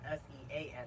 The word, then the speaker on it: Sean: the pronounced Dean but Sean is s-e-a-n but pronounced Sean steam same okay third